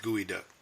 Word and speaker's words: geoduck: interesting dripping semen pretty cool there you go gooey duck look at cool if you ever have and it's spelled geoduck GE ODU g.o.d uck but it's pronounced gooey duck yes you know if that's like clam chowder